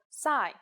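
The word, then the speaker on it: ψ: it in English called PSI there is no corresponding sound in English it makes up sound like P and S said at the same time here's the uppercase C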